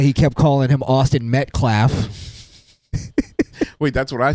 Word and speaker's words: Metcalf: It's not Melclaff. It's what is it? McClough? Is it McClough? I think black folks like subconsciously have refused to learn shitty white names. Is it McCleef? Like, how do you say it? McClough? Somebody sounded out. Metcalf. It's That's what I said. It's Metcalf. Metcalf.